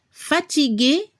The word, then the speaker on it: fatigué: En francés, fatigué, fatigué. Agregamos la E al final para el femenino. Al nivel de la pronunciación, masculino y femenino se pronuncia igual.